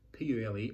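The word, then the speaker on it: Pule: round five in serbia p-u-l-e i think it's pronounced purely as the world's most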